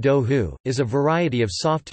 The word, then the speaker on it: đậu hủ: In Vietnam, duha, pronounced do hu, is a variety of soft tofu made and carried around in an earthenware jar.